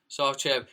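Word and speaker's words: Sarcev: How do you pronounce his second name? Is it Sarchev? Sarchev.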